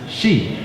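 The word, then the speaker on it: し: this is because four in Japanese can be pronounced she which is the same pronunciation as there for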